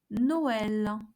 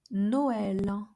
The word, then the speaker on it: Noël: So we have, for example, le mot Noël. Noël. So each vowel is pronounced separately.